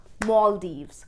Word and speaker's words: Maldives: पहले सिलेबल को आपको बोलना है मॉल, और फिर डीव्स, Maldives, Maldives. However, if you look up in English dictionary, you will find that Maldives is also an acceptable pronunciation, but I prefer to speak it as Maldives.